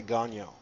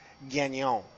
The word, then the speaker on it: Gagnon: I pronounce it Anglified. I say Gagnon, but apparently it's supposed to be Gagnon.